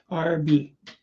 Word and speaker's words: Arby's: Wife and I had Arby's. Is it, how do you pronounce it? Arby's or Arby's or what's the way it's pronounced? RB. RB. Just like it's spelled.